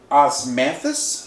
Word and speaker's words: Osmanthus: Osmanthus flower is how it's pronounced.